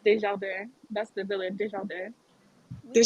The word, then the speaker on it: Desjardins: While we're talking about pronunciations, it's pronounced Desjardins.